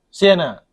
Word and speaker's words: sian: Sienna. Okay, so Sien. So Sien is if you are bored. So like it's spelled SIAN.